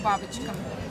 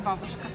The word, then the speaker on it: Baboshka: А бабочка у нас пишется по-английскими буквами. Чуть ли не бабушка. Ну, все, ну, кстати, бабочка. Мимо читают, ходят, говорят «бабушка».